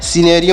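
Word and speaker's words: scenario: होता है कथानक तो यहां पर भी सी साइलेंट है इसका उच्चारण यहां पर नहीं किया जाएगा आगे बढ़ते हैं प्यारे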